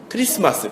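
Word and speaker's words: Christmas: 크리스마스. 그게 크리스트마스라고 해서, 마스는 미사의 영어식 발음이고요. 크리스트에서 T가 묵음이 돼가지고 그리스도의 미사를 크리스마스라 부릅니다.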